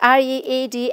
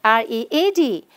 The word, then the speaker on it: read: The first one, the base form, when the verb is read, we need to pronounce it as read. But then when it becomes the past tense, the spelling is same, R-E-A-D, but we have to read it as read and not read.